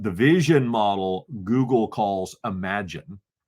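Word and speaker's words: Imagen: vision model Google calls imagine it's spelled image gen image gen but it's pronounced Imagine by Google um so the Imagine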